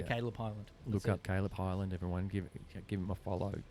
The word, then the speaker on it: Kaileb Hyland: so what's the handle so my name spelled a bit funny it's cuz my mom's a dyslexia hippie so it's spelled k a i l e b and then Highland so just all one word h y l a n d so Caleb Highland look up Caleb Highland